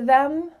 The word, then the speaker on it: them: the previous 2 words, we're going to cut off that first sound and just say, I gave it to him. That TH is gone.